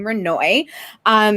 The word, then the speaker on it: Renoy: I know it's not spelled intuitively or phonetically, but that is how you pronounce her name, Renoy.